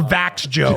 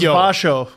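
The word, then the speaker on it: Växjö: You don't go Vax Joe. That's what we thought it was. I thought it was Vasho.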